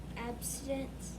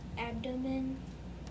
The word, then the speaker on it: abdomen: By rubbing their How do you say that word? abstinence. Nope. Long O. Now put it together. Abdomen Abdomen.